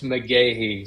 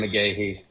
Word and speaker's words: McGaughey: It's McGaughey, so I'm Dr. McGaughey.